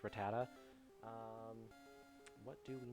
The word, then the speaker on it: Rattata: I always called them Rattata, but it's actually technically pronounced Rattata.